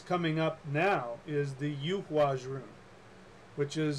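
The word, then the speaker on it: Eihwaz: And I call it the Yuhwaz rune because we don't have the letter. We don't use that letter in even in most modern Germanic languages. We don't use that letter anymore. But the tree that it's connected to, it's named after the yew tree, which is pronounced yew.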